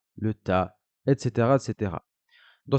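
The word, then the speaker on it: ت: prononcer bas bas d'accord la lettre ta ensuite correspond tout simplement au T en français il va se prononcer pareil ta le ça va correspondre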